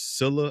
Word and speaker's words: Scylla: terrifying deep end with the sirens, the monstrous Scylla, I believe it's pronounced, and a pretty incredible but grim trip to the Underworld to raise the army of the dead.